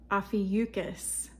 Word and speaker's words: Ophiuchus: Okay, Ophiuchus.